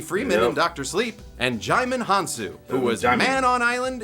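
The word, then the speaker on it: Djimon Hounsou: and Jim Hanu, who was man on island in a quiet place, too. Jaime Hansu, thank you for helping me pronounce that name. I've been pronounced it for a long time, wrong for a long time.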